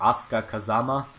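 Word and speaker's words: Asuka Kazama: this game are C mitu auka Kazama or ASA Kazama to pronounce it properly Alisa and of course Yoshi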